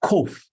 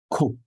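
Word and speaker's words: קוף: So it sounds like a K sound also because it's like your Q, which is this one, and your K, which is this one. Q and K sounds the same.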